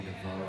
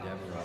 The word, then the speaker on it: DeVoe: I'm proud of myself because I said Junior DeVoe and not Junior Devereaux. I pronounced his name correct.